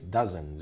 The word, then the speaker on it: dozens: the pronunciation she have the Z vibrates dozens give it to me